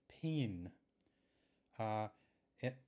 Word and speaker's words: pingin: pence when Irish cent one D pinion and I've heard also heard this pronounced peen it and I guess it might depend on what part of Ireland you come from or how your parents pronounced it but what will call